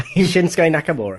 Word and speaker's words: Shinsuke Nakamura: McMahon will feed AJ Styles um I can't pronounce the Japanese guy's name shinsuke Nakamura there you go and Finn Balor to Roman